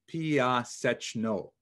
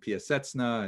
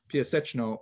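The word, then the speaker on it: Piaseczno: town about 14 kilometers outside Warsaw, which is pronounced in Polish, Piasechno. Since there's a couple of sounds there that are hard to reproduce in both English and in Hebrew, it's sometimes rendered Piasechna and Piasechno, things like that, but Piasechno is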